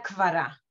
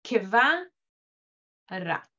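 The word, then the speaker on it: קבורה: Yo diría kvara, kvara, solamente el k. ¿Ok? Ustedes se van a dar cuenta. En el hebreo bíblico todavía se pronuncia esa shva y leemos keva ra.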